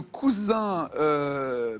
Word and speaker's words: coussin: De quelle plante le coussin... le coussin. Ah oui, quand il y a 2 S, ça se prononce coussin.